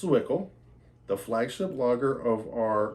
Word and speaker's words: Zwickel: This says, pronounced Zwickel, the flagship lager of our Reverence series, classically crafted, timeless European-style beers.